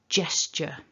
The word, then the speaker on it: gesture: beginning of the word remember it's a gesture so but if you weren't familiar with this word you might look at it and potentially want to say so i've heard guess instead of jess so that's the first thing it's not a gu it's a j and at the end